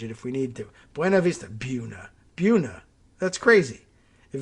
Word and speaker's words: Buena Vista: the real pronunciation is buna vista it's not buna puna isn't a word in anything this is clearly spanish buena vista it's not that hard